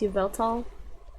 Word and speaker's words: Yveltal: I I have a I call it wal I think it's actually pronounced Yveltal um but I have one